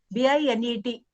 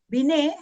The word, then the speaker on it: Binet: B-I-N-E-T, T is silent.